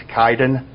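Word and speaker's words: Kiden: It's pronounced kind of like kitten, but you pronounce it you pronounce it like a K-Y and then D-E-N. So it's Kaiden.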